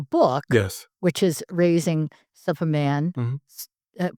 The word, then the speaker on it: Supaman: which is Raising Supaman. Mhm. Pronounce it for me. You're fine. Soup. So think of Soup. soup like a bowl of Like soup. it's Superman without the R, Without the R because I right?